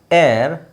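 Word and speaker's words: heir: short form ಮಾಡೋದು your ಏರ್ ಏರ್ ಇಲ್ಲಿ H silent ಆಗಿರುತ್ತೆ ಅಕ್ಷರ ಎರಡು ಬೇರೆ ಬೇರೆ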